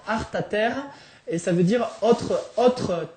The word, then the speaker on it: Alta Terra: Alta Terra, ça veut dire donc les hautes terres, mais ici dans la vallée, Alta Terra, ça se prononce Arta Terre et ça veut dire autre terre.